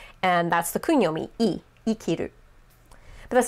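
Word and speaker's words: 生きる: of it and it is not pronounced say kiru it's pronounced ikiru so that would be the kung yomi of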